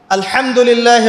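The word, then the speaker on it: الحمد لله: আপনি পড়ছেন আল্লাহু আকবার আলহামদুলিল্লাহি রাব্বিল আলামিন এইতো আপনি পড়ছেন আলহামদুলিল্লাহ শব্দটা কি আলহামদুলিল্লাহ এই হা এর মাখরাজ কোথায় হা এর মাখরাজ কোথায় বলেন একজন কণ্ঠনালীর মাঝখান থেকে এখান থেকে আপনি উচ্চারণ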